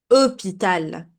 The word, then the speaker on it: hôpital: If you remember, at the beginning, I told you the H is silent. For example, hôpital.